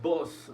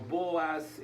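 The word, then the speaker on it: Booz: encontrar con B de burro, O y Z, Boz, ¿verdad? No Buzz Lightyear, ese es otro, es Boz. Algunas personas yo he mirado que lo pronuncian como Boaz, otro como Boz.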